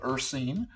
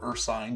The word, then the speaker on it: Ursine: So We landed on Evercoat Ursine, or Ursine, depending on how you like to pronounce words.